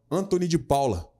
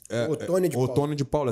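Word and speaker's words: Otoni de Paula: Inclusive ontem eu assisti um vídeo do deputado federal Anthony de Paula. Otônio de Paula, assim que pronuncia, que é pastor, deixando claro que estão programando uma guerra civil no Brasil, toda direita, matança.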